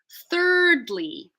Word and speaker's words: thirdly: it to ring out trick your mind into thinking the other sound is in the next syllable and then eventually it scales back so that you're saying it normally thirdly so I'm gonna it's